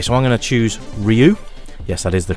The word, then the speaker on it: Ryu: Okay, so I'm going to choose Ryu. Yes, that is the correct pronunciation, apparently.